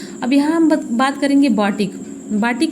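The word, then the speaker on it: batik: और बाटिक मूलतः जावा एवं सुमात्रा की कला है, जिसका सही उच्चारण बतीक है, जिसका अर्थ है मोम से लिखना या चित्र बनाना।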